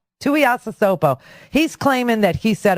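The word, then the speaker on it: Tuiasosopo: Well, apparently they're saying, this is how you say Ranaya's last name, Tuiasasopo. Tuiasasopo.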